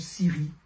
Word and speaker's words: Sivry: des affiches entre autres ça se prononce Siri quand tu arriveras ne